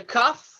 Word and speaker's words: kaf: We have the kaf, which sounds like a cuff, cuffing sound.